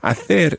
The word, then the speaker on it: hacer: Hacer. Now, hacer is spelled H-A-C-E-R. And if you're in Latin America, you'd be saying hacer.